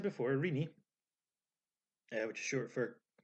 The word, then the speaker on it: Renee: I shall explain so as I said before irini yeah which is short for Christina which is why it's pronounced Rini despite looking like a baby spelled rainy when